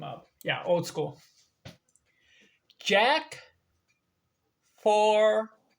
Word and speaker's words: Fournier: Jack Fournier. Fournier. We spell it F-O-U-R, so four, and then near, N-I-R, N-I-E-R, Fournier.